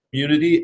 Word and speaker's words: Cxmmunity: So how did you come up with, is it Cxmmunity? Is that how you say it? Okay. Yeah, so how did you come up with Cxmmunity?